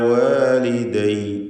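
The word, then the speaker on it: وَالِدَيَّ: അവിടെ അലയ്യ് വാലിദയ്യ് എന്നൊന്നും പറയില്ല, മറിച്ച് അലൈ വാലിദൈ വാലിദൈ.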